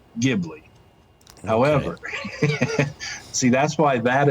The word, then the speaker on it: Ghibli: plane and in italian it is purdue or pronounced ghibli however see that's why that is correct however